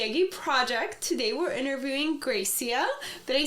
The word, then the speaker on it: Grecia: Today we're interviewing Grecia.